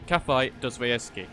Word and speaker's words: Caveira: So to show you spots, I'm going to be taking you over to Caveira.